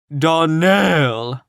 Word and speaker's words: Donnell: would set it right darnell accent on the last syllable and saint claire on